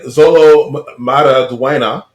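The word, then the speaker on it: Xolo Maridueña: Viola Davis locked in as Amanda Waller, and Zolo Maraduena. I'm sorry. No, you said it right.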